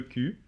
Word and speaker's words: cul: Bon, alors attends, je vais l'expliquer quand même, parce que le cul, ça se prononce Q comme la lettre Q, Oui. et ça s'écrit C-U-L, hein, d'accord?